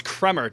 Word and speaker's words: Kremer: Even though it's Kremer technically, but it's funnier to say Kramer. Or Oh, it's spelled really? Kremer at the very. It's spelled Yeah, Kremer, it's spelled Kramer, yeah, but it's but I pronounced. still think it's pronounced Kramer. Kramer.